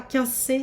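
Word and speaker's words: Quincey: 15C, c'est quoi 15C? Oui, non, alors ça s'écrit Q-U-I-N-C-E-Y, le 15C.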